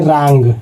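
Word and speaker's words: wrong: जैसे डब्ल्यू यहां है दोस्तों और यहां पर आर आ गया इसके तुरंत बाद तो डब्ल्यू यहां पर साइलेंट हो जाएगा। तो इसको पढ़ेंगे रॉन्ग। डब्ल्यू को साइलेंट कर देंगे।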